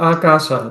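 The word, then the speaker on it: ākāsa: Akasa. It's a long I see.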